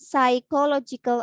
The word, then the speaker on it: psychological: So after passing the academic test and psychological assessment, you should not pronounce the letter P in the beginning of this word. So just say psychological ya.